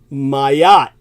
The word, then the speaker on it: Mayotte: The population of heavily Muslim Mayotte, pronounced Mayotte in the French, just off the African